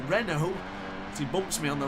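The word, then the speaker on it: Renaux: It was Maxime Remo. I keep saying his name wrong. Renault.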